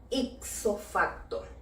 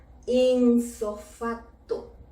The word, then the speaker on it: ipso facto: espíritu dejémosla tal cual isofacto otro errorcillo muy común con esta expresión es pronunciarla y escribirla de esta manera insofato con N y en una sola